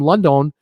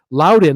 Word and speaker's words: Loudon: And hello from London. Loudon. Hello from Loudon County, Virginia. Ben Tran. Thank you, Ben, for telling me how to say it.